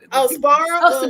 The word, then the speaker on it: Sbarro: Sbarro.